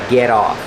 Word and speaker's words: get off: Remember, pronunciation, get on, get off. The T changes to a fast D.